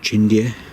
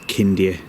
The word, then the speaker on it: Chindia: Some people pronounce it Chindia, but in Romanian it is Chindia Tower.